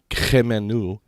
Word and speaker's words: Khemenu: His chief temple was located in the city of Hermopolis, and the Egyptological pronunciation of it, which is Khemenu, or shortened to Chem for a lot of people, which they relate to the birth and the teaching of chemistry by Thoth.